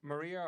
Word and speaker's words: Maria: so it it is is your name pronounced Maria or no because it's written as Maria as what I always see is it is it pronounced as martial is that it is yeah it's Maria okay maybe oh Masha